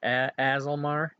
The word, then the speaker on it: Aasimar: Aasimar?